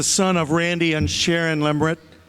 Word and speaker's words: Lemert: Bryce is the son of Randy and Sharon Lemert. Bryce, I finally said it right after all these years.